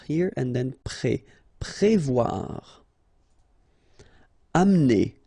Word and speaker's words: amener: Amener. Don't insist on the E here because you don't really pronounce it. Amener. Amener.